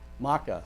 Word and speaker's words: Maca: why I clapped at Mika. Is that Micah? How do you say your name? Maka. I knew I was going to get it wrong.